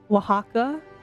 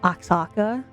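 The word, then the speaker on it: Oaxaca: Wajaka. is Axaka, you know, pronouncing it completely wrong.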